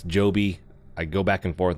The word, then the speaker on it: Joby: by the way I've mentioned the name potentially as Gobi it's Joby I go back and